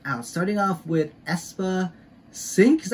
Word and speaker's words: Synk: and check it out starting off with espa sync is how you pronounce it sync sync sync winter and yeah sound and check